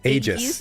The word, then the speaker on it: Aejis: How do I pronounce it? Aegis? Aegis, yes. Sorry, Aegis. Aegis. Okay. Yeah, Like hi everyone. Like the shield from Oblivion, that probably nobody gets the reference I'm making.